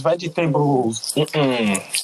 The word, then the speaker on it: vegetables: Say all the syllables. Vegetables. Vegetables.